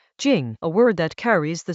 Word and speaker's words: 精: Within the formless there is Chinese letter, jīng, a word that carries the sense of essence, of something refined and vital, the fine-grained stuff that underlies coarser appearances.